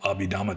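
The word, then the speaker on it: Abhidhamma: throat] is also called Abidama day now or in Burmese it's pronounced abidama.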